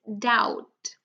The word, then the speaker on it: doubt: Now the next one, so doubt, it's doubt. D-out, doubt.